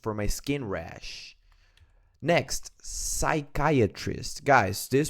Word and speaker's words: psychiatrist: Next, psychiatrist. Guys, this pronunciation here is important because here you don't pronounce letter P. It's silent.